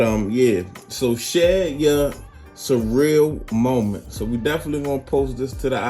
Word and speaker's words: Cyrill: got a case from surreal that's how i pronounce it guys surreal you could say sorry real whatever but i'm gonna say surreal it just sounds better um they have a